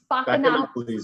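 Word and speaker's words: Spaccanapoli: It's pronounced, let me see if I can say it right. Spacanopolis.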